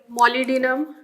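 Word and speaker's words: molybdenum: Of phosphorus calcium magnesium mole मोलिडिनम B silent.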